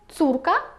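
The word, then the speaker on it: córka: саме за рахунок крески ця літера вимовляється як у наприклад слово цурка означає донька і вже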